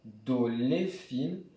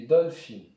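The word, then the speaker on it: דולפין: On ne dit pas doléphine, mais dolphin.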